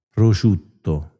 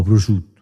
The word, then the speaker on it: prosciutto: Prosciutto, no, prosciutto. Che is un babuino, una scimmia? Are you a monkey? They say prosciutto.